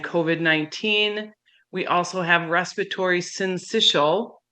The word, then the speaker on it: syncytial: we also have respiratory syncytial pronounced like initial respiratory syncytial virus or